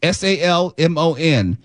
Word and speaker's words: salmon: Um, s a l m o n. More and more people are pronouncing the L.